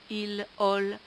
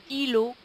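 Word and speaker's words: îlot: r t mais dont on ne prononce pas le T un r un îlo une petite île un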